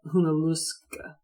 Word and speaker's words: Junaluska: that are native words, that's a Cherokee word, and in Cherokee it's not pronounced Junaluska. Not traditionally, now it is. Cherokee wasn't pronounced Cherokee either, it's Saligee. But Junaluska is like Hunaluska.